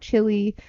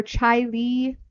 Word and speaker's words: Chili: chili in new york i know it's not chili i believe it's chile or chai lee something like that i